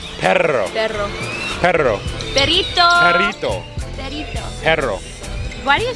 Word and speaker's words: perro: Can you say it right? Perro. There's two R's. That means you gotta roll. Do it.